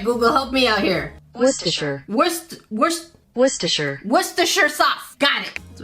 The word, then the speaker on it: Worcestershire: right all right Google help me out here Worcestershire Worcestershire sauce got it so we add our